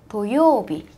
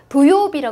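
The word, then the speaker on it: 土曜日: 뭐라고요 도요비 뭐 있지도 도요비 도요비 아니에요 여러분 회하 때 주의하세요 어 저 선생님이 제 제가 되게 여러 번 수업을 회화 수업도 많이 해 봤는데 이거를 토 도요비 제대로 발음하시는 분들이 별로 없어요 그러니까 여러분은 꼭 주의하셔서 도요비 아고 꼭 발음해 주세요 토요일이 뭐라고요 도요비네 잘하셨어요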